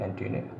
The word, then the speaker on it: antennae: The correct pronunciation, antennae.